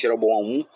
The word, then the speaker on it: Jeroboão: Mas o que realmente marcou o reinado de Jeroboão I foi a forma, ou Jeroboão I, mas pronunciamos realmente Jeroboão I, foi a forma como